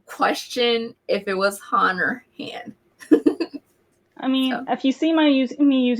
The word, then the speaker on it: Han: tell me correct cool thanks um is it pronounced han or hand han okay okay just want to make sure